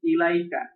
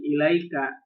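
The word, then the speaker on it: إليك: If attached to a pronoun, ala and ila are pronounced with ya. What? Here. Alaihi, ilaika.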